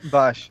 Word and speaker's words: Bosch: There's a Johnny Young Bosk, I think that's how you pronounce his name. Bosch.